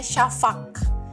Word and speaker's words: şafak: ekornya di bawah tu itu bacanya Sya jadinya syafak syafak larda kemudian itu ada